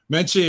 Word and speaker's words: Menche: Menche, it rhymes with munchichi, all soft and cuddly.